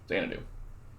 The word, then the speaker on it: Xanadu: So Xanadu, Atlantis, Xanadu. Typically this is pronounced Xanadu in case you didn't know.